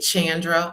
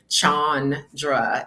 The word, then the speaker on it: Chandra: I get Chandra all the time because I guess that's how it looks. But it's since there are two A's, then that long A sound on Chandra is how it's pronounced.